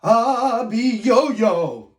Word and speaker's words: Abiyoyo: you repeat after me ah be yo-yo you do it very good you have to say it that way because he's a terrifying monster okay now um this